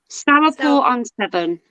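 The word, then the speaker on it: Stourport-on-Severn: It's going to be Stourport on 7. I always say it wrong. Yeah. Stourport on 7.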